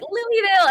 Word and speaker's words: Louisville: When I first started, I was like, Louisville. And I went to Kentucky. They were like, it's Louisville. Don't you dare say Louisville.